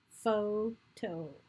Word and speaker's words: photo: Photo. Starts with the F sound written with the PH.